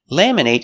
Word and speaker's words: laminate: Laminate is a verb with a long a sound. Laminate. But what if it's not a verb? Laminate. We make the short it sound.